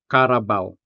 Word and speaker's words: carabao: This three-syllable word ends with a three-letter syllable, bao. Here, the vowel A pairs with a semi-vowel W to create the diphthong, au, giving the final syllable a vowel-sounding finish.